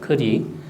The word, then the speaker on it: 커리: 알죠 우리가 아는 카레이 카레는 원래 이제 인도식 발음은 커리입니다 커리 요즘 이제 가끔 인도 전문 지증면 컬이라고 써 놨잖아 원래 바르면 크리고 카레는 남인도 쪽에서 카레라고 발음을 해요 마살라 뭐냐 하면은 향신료를